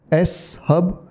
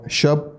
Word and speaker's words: shub: This is S-Hub, Scrapy Hub, or Shub, however you want to pronounce. I like to call it Shub.